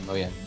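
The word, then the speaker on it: Mojang: passed over to like the moang apparently it's now pronounced um yeah moyang um what he said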